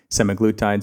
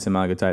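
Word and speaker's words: semaglutide: So funny where we choose to stress the syllables. I always people use semiglutide semagotide. Anyway, apparently to the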